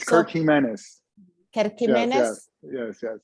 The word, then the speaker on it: Gimenez: Kirk Gimenez? Yes. It's Jimenez, but with a G.